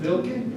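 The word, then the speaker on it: Wilke: does he pronounce it Vilke? W is pronounced like a V.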